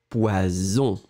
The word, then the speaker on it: poison: Le premier, comme j'ai expliqué, 2S, le son, c'est très, très fort, c'est vraiment un S très fort. Poisson. La technique, c'est de faire le son un petit peu plus long au début. Poisson. D'accord? Et après, hop, vous le mettez plus court. Poisson. Deuxième. Zzz, poison. On répète le A, poisson. Le B, poison. D'accord?